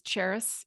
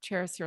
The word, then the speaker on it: Charis: spelled like the city spelled and pronounced like the city Paris to help everyone understand but with a ch ch h a r